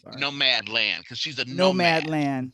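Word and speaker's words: Nomadland: on the buzz around no manland no man land i'm mispronouncing it no no mad land cause she's a nomad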